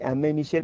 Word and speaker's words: Aimé Michel: Otro libro interesante, Los misteriosos platillos voladores, del autor francés Aimé Michel, se dice Aimé Michel, pues se escribe Aimé Michel, también de esta misma